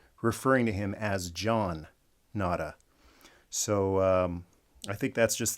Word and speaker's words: Nada: So I know it's pronounced nada. It's a Spanish word for nothing because he is nobody.